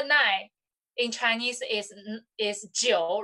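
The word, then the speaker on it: 九: is the biggest of the cardinal number and pronounced as the jio okay number nine in chinese is is jio right and this one is has the same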